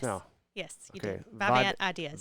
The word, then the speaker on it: Vivant: Vivant Ideas. Vivant Ideas.